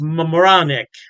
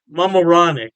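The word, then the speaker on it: Mamaroneck: state p kipy and I believe it's pronounced Mam moranic Mam moranic yeah don't quote me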